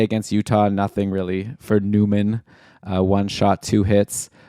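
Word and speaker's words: Nyman: another guy Yan okay apparently his name is pronounced Newman even though it's n y Meen I've always assumed yany Neiman but I guess I'll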